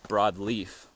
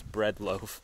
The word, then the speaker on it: Bread Loaf: up bread loaf mountain I was pronouncing it incorrectly earlier I thought it was broadleaf but uh it was bread loaf mountain so we'd start with